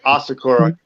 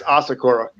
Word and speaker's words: Asakura: them are saying asakura it's actually osakura is without the a it's Sakura which is the cherry tree so it's asakura famous Samurai Clan okay